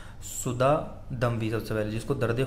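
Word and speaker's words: सुदा: पिछले वीडियो में मैंने सुद्धा को सुद्धा बोल दिया था कई जगह, तो वो सुद्धा नहीं है, सुधा है। ठीक है, वो इसलिए थोड़ा प्रोनाउंसिएशन में गड़बड़ हो जाता है, याद नहीं रहता है, तो इसलिए वो कर दिया था। तो सुद्धा बोलते हैं ऑब्स्ट्रक्शन को, और सुधा बोलते हैं हेडेक को।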